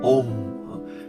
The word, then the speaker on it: Om: 这个字呢念作 Om，它是在佛经里头或